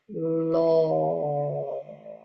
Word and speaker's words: law: Tapi ini eh lo jadi o-nya beda. O bukan o.